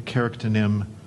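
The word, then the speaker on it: charactonym: Rowling used the carictonym Remus Lupin in the Harry Potter series for a teacher who is also a werewolf, because the word lupin means wolfish.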